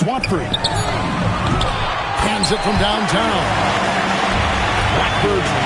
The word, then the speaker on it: Watford: Watford. Rhymes. Rhymes with dimes.